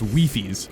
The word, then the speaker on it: Wifies: Now's probably a good time to mention that I am well aware Wifies has tried to psyop everyone into thinking it's pronounced Wifies, but I'm gonna call him Wifies.